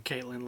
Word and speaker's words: Katlyn: i know caroline caitlin i think it's pronounced caitlyn even they're spelled k-a-t-l-y-n i'm actually looking at